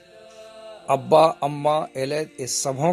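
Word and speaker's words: ילד: और औलाद को इब्रानी में कहते हैं एलेद, और एलेद की स्पेलिंग है योद और लमेद, और दलेत ये चौथा अक्षर है।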